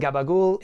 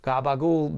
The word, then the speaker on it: gabagool: another example of that the original word is capocolo standard Italian gabagool becomes the becomes the original pronunciation in southern Italy and then it becomes the gabagool written the American way if you want to